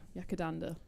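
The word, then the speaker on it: Yackandandah: And I'm going to let you pronounce it because I have bad form with Yakandanda. Yakandanda.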